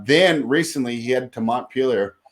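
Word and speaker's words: Montpellier: recently he had to montpelier not mon pierre excuse me on my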